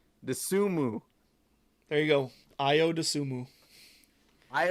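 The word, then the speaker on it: Ayo Dosunmu: look impressive illinois came out even and without ao disability or is that how you pronounce it i don't know i don't know io the sumu there you go ayo dasumu i o dasumu was not in this game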